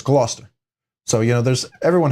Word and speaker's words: Gloucester: but if you look at it it everyone's pronounced it glaucester but it's Gloucester so you know there's everyone has a place